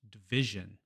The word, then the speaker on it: division: After the I sound, as in division.